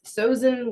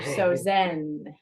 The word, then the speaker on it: SoZen: um we are not sosan we are not Susan we are soen soen nice and where did you come up with that name so soen came from the feeling